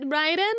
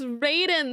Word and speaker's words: Raiden: involves fighting the illumin that's how you say it Ryden I've been saying it as Raiden this whole time I like how he